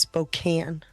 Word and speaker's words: Spokane: It's pronounced Spokane. Really? It's got a E at the end of it. It the E is silent.